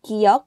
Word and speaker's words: 기역: 기역 is the sound between K and G. Sometimes you hear K and sometimes you hear G.